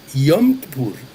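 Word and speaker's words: Yom Kippur: É, ah, pronunciou corretamente, eh, eh, o dia da expiação, que em hebraico é você já falou aí muito bem também, Yompur, né?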